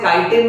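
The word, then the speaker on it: chitin: इसके एक्सोस्केलेटन की जो कवरिंग है वो चिटिन नाम के मटेरियल की बनी है। आप इसे काइटिन भी प्रोनाउंस कर सकते हो बच्चों।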